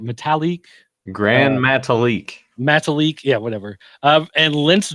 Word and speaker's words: Metalik: Metalik.